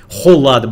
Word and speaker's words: Kholat: Холат, бля, правильно чиза пишется, халат, блять.